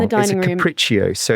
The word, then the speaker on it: Capriccio: It's called It's a big, this is when I pronounce it wrong. In the dining room. Capriccio. So it's like Capriccio.